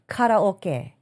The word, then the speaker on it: karaoke: And on the note of karaoke or karaoke as it is properly pronounced in the Japanese um the Japanese in Nihongo.